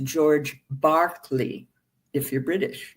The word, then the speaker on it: Berkeley: in England, an Anglican bishop, whose name is pronounced George Berkeley if you're British, not Berkeley, Berkeley.